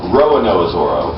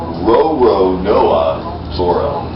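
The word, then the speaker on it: Roronoa Zoro: you say it properly lots of people say Roan NOA Zoro that's not correct it's Roo NOA Zoro roono that's what might make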